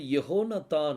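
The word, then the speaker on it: יהונתן: கொடுக்கப்பட்டிருக்குது ஆங்கிலத்தில் ஜோனத்தான் கொடுக்கப்பட்டிருக்குது எபிரேய மொழியில நீங்க பார்த்தீங்கன்னா யெகோனத்தான் அப்படின்னு சொல்லி கொடுக்கப்பட்டிருக்கும் யெகோனத்தான் இந்த யகோனத்தானை நீங்க ஹீப்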